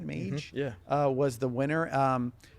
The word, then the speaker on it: Mage: Mage?